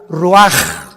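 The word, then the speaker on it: רוח: exhaló Isaac el Roach así como suena se pronuncia la c en hebreo como J ruaj se le só y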